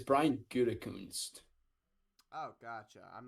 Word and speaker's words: Gutekunst: Oh yeah, I was talking about pronunciations. So it's Brian Gutekunst.